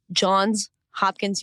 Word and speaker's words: Johns Hopkins: of political science at John's Hopkins University had to make sure to pronounce the S there and a senior fellow